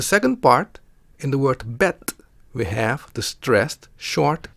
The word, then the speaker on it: bed: stress we can see the word ends on the consonant the D which is pronounced as T in Dutch so the word reads bet next let's have a